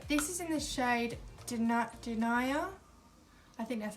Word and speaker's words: Denia: This is in the shade Denia. I think that's how you pronounce it. It's not Denaja, it's Denia.